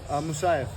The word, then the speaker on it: Musayev: Musayev.